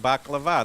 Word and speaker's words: baklava: Baklawa, she was telling me how to pronounce it right, is kind of like baklava.